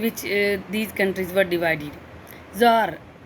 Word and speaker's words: Tsar: Tsar, and you can also pronounce it as Za.